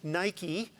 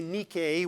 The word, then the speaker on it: Nike: the source of the shoes that are often mispronounced nike one wants to say nikkei which is the correct pronunciation so a new